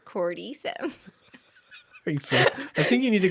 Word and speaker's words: cordyceps: do you say it cordyceps chord Corte as opposed to core D got it coreyceps cordyceps I think you need